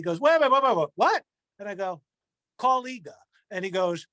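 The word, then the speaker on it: Kaw-Liga: what and i go colleague and he goes spell it and i'm like k k-a-w-l-i-g-a goes that's collider you and i'm like oh you know it's not pronounced how it's spelled so oh man thankfully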